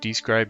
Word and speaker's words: Dscryb: For those who don't know what Describe is, and that's spelled DSCRYB, it's a website resource